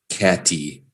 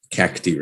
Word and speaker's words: cacti: She says, I would pronounce catty if you never told me. Exactly. Cacti, right? And that's funny because the I in almost every other country in the world is E, like an E sound.